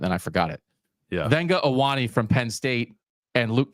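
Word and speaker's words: Vega Ioane: We double checked the pronunciation on that, and then I forgot it. Yeah. Venga Owane from Penn State and Luke Kandra from Cincinnati.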